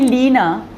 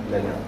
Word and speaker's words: Lena: If you call me Lena, it's not me. Right. Lena. It has a different vibrational frequency.